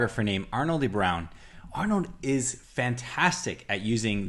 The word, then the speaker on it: De Bruijn: Okay, Arno De Bruijn. De Bruijn.